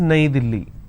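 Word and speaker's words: नई दिल्ली: is a capital City in Hindi New Delhi is pronounced as naidili right in English the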